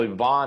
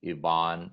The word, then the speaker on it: Ivan: whole entire life together well yvonne has spelled like ivan and put the in front of it so dr yvonne and again it's spell like ivan on everything uh i'm